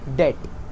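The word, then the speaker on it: debt: हां धन और ऋण ऋण यानी डेट डेट लिखते ऐसे हैं। डेट को ऐसे लिखते हैं बट बी साइलेंट होता है।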